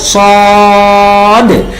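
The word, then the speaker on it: صٓ: দিতে হয় তাই না তাহলে সদ উচ্চারণ সময় আমাদের বলতে হবে সদ তাহলে সদ সাউন্ড হবে সদতে চার আলিফ টান হবে এবং সদের শেষে একটা ডাল সাকিনের উচ্চারণ আসার কারণে একটা ধাক্কা হবে কেমন দেখি আমার সাথে প্র্যাকটিস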